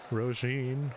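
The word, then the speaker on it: Róisín: Rhymes with Jolene. Oh, okay. Roisin, Roisin, Roisin, Roisin.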